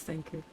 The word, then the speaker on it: Thancred: It's Thancred. Most of the characters in this game pronounces his name Thancred.